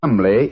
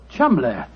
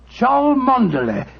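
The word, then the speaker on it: Cholmondeley: Being an American, he had no reason to know that the name Chumley is in no way pronounced the way it is spelled. Oh, Joe, I never thought of that. Chumley.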